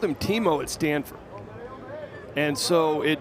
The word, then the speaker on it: Timo: it's Timo, and he goes into the whole pronunciation of the first name. We'll just leave it at Timo.